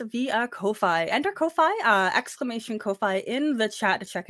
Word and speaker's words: Ko-fi: Enter Ko-Fi, exclamation Ko-Fi in the chat to check it out. I know some people pronounce it coffee, but we make choices here.